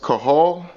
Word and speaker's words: Cathal: It's spelled Cathal, but I think it's pronounced Cahal.